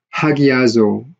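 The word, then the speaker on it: ἁγιάζω: 하기아조, 여기 지금 rough reading만 거친 수표 있으니까 하로 발음해야죠. 하기아조, 거룩하게 하다, 성화시키다.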